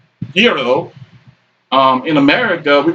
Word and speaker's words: gyro: i mean you know in greek it's supposed to be pronounced hero um in america we call it gyro because that's how it's